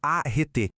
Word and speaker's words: areté: E o objetivo final de todo esse treinamento era alcançar a areté, a pronúncia é arete, que significa excelência ou virtude.